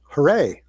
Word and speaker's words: Harei: So, first of all, uh we pronounce it Huray.